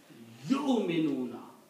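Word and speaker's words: يؤمنون: So the way you should pronounce it, yu'minuna. Combine ya with the hamza, you. Don't say you, don't say English word Y-O-U.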